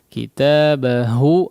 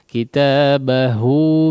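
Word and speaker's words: كِتَابَهُ: Kitabahu, haknya juga ya. Kita sering memperingatkan hak di sini ya. Sebagian orang tidak betul-betul terbedakan antara ha dengan ha ya. Kitabahu biyaminih.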